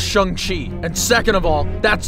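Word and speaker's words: Shang-Chi: tried helping saying tea first of all it's pronounced Shang Chi and second of all that's not shung Chi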